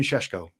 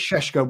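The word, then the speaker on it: Šeško: The interesting one is the raw diamond of Benjamin Sheshko and I think it's Shesho Rob that we're going to end up saying. I think that's the way the Shesho I think we got to say it like that.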